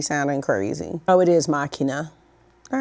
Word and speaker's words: Machina: Oh, it is Machina.